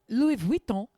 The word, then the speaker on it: Louis Vuitton: everybody has is that Louis Vuitton even saying the right name I don't know are you saying it like my mother Louis Von is how you say it okay good is how